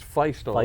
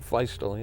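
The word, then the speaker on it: Feustel: I think it's Feistel, isn't it? Feistel, yeah.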